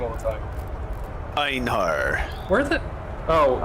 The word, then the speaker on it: Einhar: And ours is pronounced Inhar. I just forget his name. It's just, he's really cool and stuff, but I just forget his name all the time. Einhar.